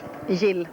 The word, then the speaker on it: Jill: How would you pronounce it in Swedish? Jill.